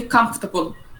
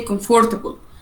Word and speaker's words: comfortable: خلي بالنا يا جماعه من حاجه، الكلمه دي in the American accent to say comfortable without OR. الامريكان accent ما بنطقش الOR في الكلمه ديت. I don't say comfortable.